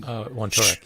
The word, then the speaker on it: Wontorek: This was you were being interviewed by Paul Wontorek, I believe is the pronunciation. Wontorek, yeah.